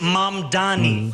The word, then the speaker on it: Mamdani: The name is M Dani. M A M D A N I. You should learn how to say it.